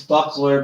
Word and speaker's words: Buckler: It's Buckler, but they pronounce it totally different than what it is. I tell them to think of a round medieval shield.